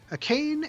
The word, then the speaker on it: Akane: Akane actually does roll off my tongue. I've got that pronunciation down, but I have thought about her as a Kane for 2 years.